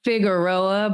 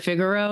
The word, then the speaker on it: Figueroa: I mean, okay, this is such a like minor thing, but she has a song called Figueroa, but she pronounces it Figaro, and it bothers me.